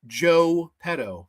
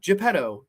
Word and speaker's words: Joe Petto: And he plays the character of Joe Petto. Now, I'm not pronouncing it incorrectly. Not Geppetto, just Joe Petto, because you get it.